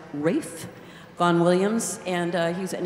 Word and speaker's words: Ralph: look at in program it looks like Ralph but he liked it pronounced Rafe Vaughan Williams and he's